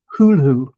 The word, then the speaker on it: Cthulhu: Lovecraft's pronunciation where the the ct is clearly a separate sound. So people always assume the th is a th but actually I suspect Lovecraft intended it to be hulu.